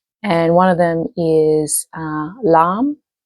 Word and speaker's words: Lam: And one of them is Lam or Laham. It's spelled Lam.